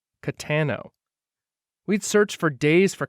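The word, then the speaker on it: Cattano: it that really happened jack had pronounced the guy's name catanio but it was spelled c-a-t-t-a-n-o katano we'd searched for days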